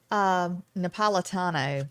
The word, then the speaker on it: Napolitano: Napolitano.